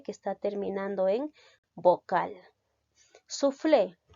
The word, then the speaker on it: soufflé: está terminando en vocal soufflé que referido a un alimento la mayor fuerza de voz recae en la sílaba flay por lo tanto es una palabra aguda las agudas llevan tilde cuando terminan en vocal la tentación optativa u